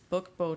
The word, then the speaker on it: Book Beau: This is a Book Beau Traveler. It's spelled B-E-A-U.